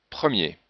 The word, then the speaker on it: premier: Mais si on a un ER final, on ne prononce pas le R. Allez. Premier.